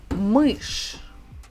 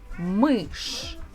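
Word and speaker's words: мышь: behind the consonants so one of the words like this is mush mush a mouse munch so if you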